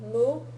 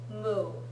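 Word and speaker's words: も: especially with this version see a cow and it's pronounced moo so if you can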